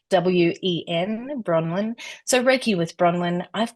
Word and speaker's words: Bronwen: the US for example so I'm going to spell it for you it's b r o n Wen bronin so raiki with bronin I've got um I've